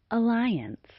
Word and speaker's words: alliance: The first sound in the word alliance is the unstressed vowel sound schwa pronounced like a schwa is also known as the natural or neutral vowel sound.